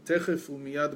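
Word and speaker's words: תכף ומיד: Right, you used to say the Mashiach should come techef umiyad mamash, right, immediately.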